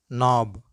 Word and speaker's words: knob: the words which commence with cairn then k is not pronounced let's go with